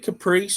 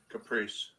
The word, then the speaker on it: Caprice: Caprice. Okay. Caprice. Hey, I thought, I was like, I wanted to say Capri, like the pants, but that's probably not right. But it's Caprice.